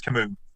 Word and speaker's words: Camus: Yeah, I think it's Camus. Camus.